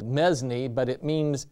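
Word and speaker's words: mesne: spelled mesme but it means it's pronounced mean and it means intermediate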